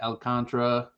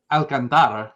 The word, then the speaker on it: Alcantara: So unders there, which I'm pretty sure it's Alcantara, right? But the announcers always call him Alcantara, and it like. Yeah, it's probably like New Yorkers on the broadcast. I think Alcantara? it's 4 syllables, but it's Alcantara. Like Alcantara. Alcantara is correct.